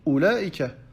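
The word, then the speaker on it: أولئك: Comme par exemple dans Ulaika. Après la Hamza, il y a un waw, mais pourtant ce waw-là, on ne le prononce pas.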